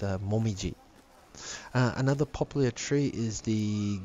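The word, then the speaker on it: もみじ: as the word is maple tree, which is pronounced momiji.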